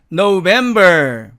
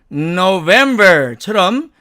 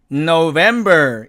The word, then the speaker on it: November: 자, 이 경우도 우리 그냥 편하게 읽으면 November 이렇게 읽겠지만 정확한 발음으로 하면 November처럼 은이라고 하는 말이 우리 입 안에 가두어져 있다가 그 소리가 부드럽게 터져 나오면서 November 이렇게 발음해야만 한다는 뜻입니다.